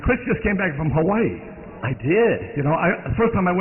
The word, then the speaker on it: Hawaii: went to Hawaii Chris I didn't know how to say it Hawaii or Havi so I I found a guy in a flowered shirt I said how do you say it Hawaii or Havi he said it's Havi I said thank you